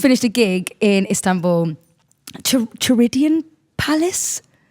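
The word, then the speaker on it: Çırağan: Chiridian Palace? Kirigan Palace. Kirigan Palace. But I think they pronounce it ch in Turkey.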